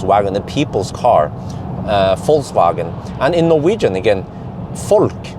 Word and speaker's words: Volkswagen: it as uh with if you pronounce it with an f then you have the correct pronunciation so it's it's volkswagen volkswagen yeah that's the correct